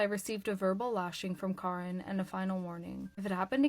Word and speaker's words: Karin: I released Chad and turned to find the head of HR, Karin, pronounced Karin, not Karen, standing behind me, arms crossed.